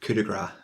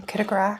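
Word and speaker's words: coup de grâce: Oh, and coup de grace. Oh, you said it wrong. Coup de grace.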